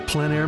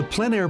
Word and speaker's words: plein air: This is the PleinAir Podcast with Rhoads, publisher and founder of PleinAir magazine. In the PleinAir Podcast, we cover the world of outdoor painting.